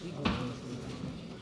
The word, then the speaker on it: Ouïghours: C'est du turc. Oui, en français on prononce Ouïghours.